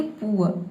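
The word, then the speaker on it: poor: और इसके बाद जो आर आ रहा है यहां पे हम आधा र पढ़ेंगे या फिर आप चाहे तो साइलेंट रख सकते हैं। क्यों? क्योंकि आर से पहले देखिए यहां पे ओ वोवेल आया है। ठीक है? तो इसे हम बोलेंगे पुअर। पुअर का मतलब क्या होता है?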